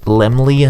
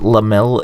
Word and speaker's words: Laemmle: for Academy Award nominations it's actually Laemmle and not lamelle you